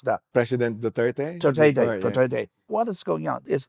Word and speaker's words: Duterte: How do you pronounce that? President Duterte? Duterte.